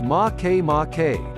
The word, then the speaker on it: Makemake: rotation might explain its oval shape make make pronounced ma que ma K was discovered in 2005 by U.S astronomer Mike